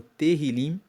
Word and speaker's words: Tehillim: E uma última observação é que os Salmos, no texto original, são conhecidos como Tehillim, se escreve T-E-H-I-L-I-M, e Tehillim significa louvores, traduzindo para o português.